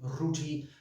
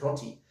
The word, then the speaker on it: roti: chicken curry with roti rooty it doesn't isn't pronounced that way guys it's roti okay and we're going to